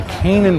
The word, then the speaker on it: Canaan: This is a Canaan fir. Yep. What set this apart from all the other trees in the competition? Sometimes pronounced Canaan Oh, fir. Canaan, okay. Canaan is perfectly correct as well.